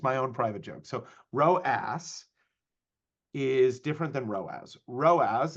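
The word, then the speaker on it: ROAS: part of this and the row as not the not the RASS yeah Rass is a bit cheeky um and that's the way I remember it it's spelled r o a SS so Rass not row as so I'm going to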